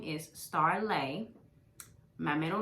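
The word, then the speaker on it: Starleigh: name is caldwell and my name is spelled s-t-a-r-l-e-i-g-h so it looks like star lee but it is pronounced star lay fun fact before the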